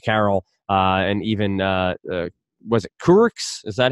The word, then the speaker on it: Kurucs: veterans like Damari Carroll and even was it Kurucs? Is that how you pronounce his name? Kurucs, yeah.